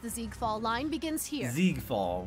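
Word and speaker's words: Siegfeld: Ziegfall. Why is there an S when it's pronounced with a Z sound?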